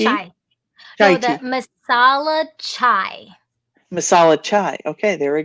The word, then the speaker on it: masala chai: And then I found out about and I'm afraid I'm not the best in pronunciation. So That's is it okay. masala Tai Chi? Chai. Tai No, the tea. masala chai.